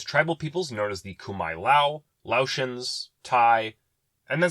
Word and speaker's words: Khmer: Khmer looks like it should be pronounced Khmer, but no, it's Khmer.